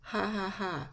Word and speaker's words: jajaja: In Spanish, a laugh is, ha ha ha. The J is still an H sound, but that's how it's spelled.